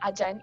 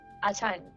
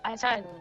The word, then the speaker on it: Ajahn: It's not Ajan, it is Achan. I actually took Thailand classes, so I know how to pronounce that. It's Achan.